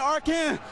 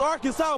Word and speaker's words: Arkansas: Ain't Arkan, it's Arkansas, baby.